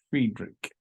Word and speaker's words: Friedrich: Just when you have two vowels together, like in Friedrich, I-E, or in Wieck, I-E, the second vowel is the one that you pronounce the way that it would be. So if it was F-R-E-I, it'd be Friedrich, but it's F-R-E-I-E, the E is second, Friedrich.